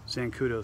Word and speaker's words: Xancudo: zancudo sheath you know the zancudo spelled with the x i thought i've got